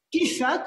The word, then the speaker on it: Kiefer: Gran momento para explorar la obra de Anselm Kiefer, o Kiefer, como bien pronuncia nuestra compañera Mayola, con cine, el deporte y justamente la cinematografía.